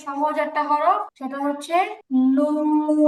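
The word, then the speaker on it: نون: নুন নুন আমরা যখন বাংলাতে ন উচ্চারণ করি তখন সাধারণত আমাদের এইভাবে জিহবার আকাটা তালুতে লাগে না বরং জিহিবার আকাটা দাঁতের গোড়ায় লাগে কিন্তু যখন আমরা আরবি নন বলব তখন নুন উচ্চারণ করার সময় একদম স্পষ্টভাবে জিহবার আগাটা উপরে তাতে লাগে এবং উচ্চারণ মধ্যে আলাদা একটা ভাব তৈরি হয় নুন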